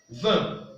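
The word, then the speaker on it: vingt: 20. Il se prononce comme ceci.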